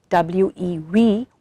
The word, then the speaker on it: WE: This program, which is called WE, pronounced as W-E-We, We Empower, is aimed at doing exactly the same.